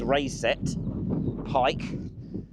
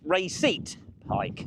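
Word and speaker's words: Raiset Pike: I think the correct local pronunciation is Rayet Pike, although I have also heard people calling it Retit Pike, but that's where we're heading to.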